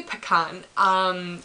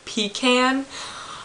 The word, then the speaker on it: pecan: when people mispronounce, and it's technically not a mispronunciation because it depends on what region of the United States that you live in, but the word pecan. See, I say pecan.